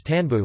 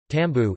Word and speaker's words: İstanbul: The name Istanbul, Turkish pronunciation, is Tanbu, listen, colloquially, Tanbu, is commonly held to derive from the medieval